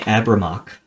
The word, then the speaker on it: Abramok: Your family had the mission of keeping Abramok, the city of forges, lit, running, and hot at all times. If you want me to spell that, that is ABRIYMOCH. Abramok. City of Forges?